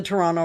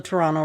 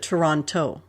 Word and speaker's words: Toronto: say like all the toronto references there is no second t in toronto that's how you know when somebody's not from toronto when they pronounce it toronto toronto but it really